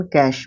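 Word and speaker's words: cache: कैच किसको बोलते हैं एक तो इसको भी कैच प्रोनाउंस करते हैं और एक इसको भी कैच प्रोनाउंस करते हैं ठीक है यह गुप्त भंडार गुप्त जगह है ना यह सब मतलब होते हैं एक इसका दूसरा प्रोनंसिएशन कैश भी बोल सकते हो इसको ठीक है कैश दोनों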